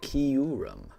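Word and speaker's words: Kyurem: Um, Jill, you pronounce it Kurum. Kurum. Kurum. Ah, yeah. Yeah, I see that. And Amelia pronounced it exactly the same as you, Jill. There you go. So, that sounds like it's the right way.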